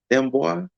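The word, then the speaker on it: D'Amboise: Dambois.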